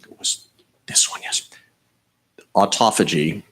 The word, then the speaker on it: autophagy: Autophagy, it should be pronounced autophagy.